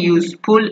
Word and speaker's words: useful: U pronunciation is a consonant sound.